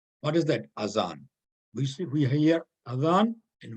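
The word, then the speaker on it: أذان: then let's learn today what's that avon is it as azan or it is azan see this is a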